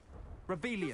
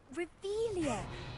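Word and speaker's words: Revelio: place where are you revelia I'm saying it wrong revelia much better oh shut up wait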